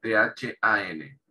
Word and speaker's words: than: el que para comparar, THAN, than, than. Se pronuncia como una de esa TH.